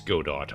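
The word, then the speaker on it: Godot: I don't care if it's pronounced Godo, it's Go dot. I I pronounce things phonetically and if it and if it was meant to be spelled any other way it would be. It's if God is French then I am pronouncing it wrong on purpose.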